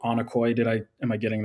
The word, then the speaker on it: onocoy: Um your project or company is called Anokoy. Did I am I getting the pronunciation right?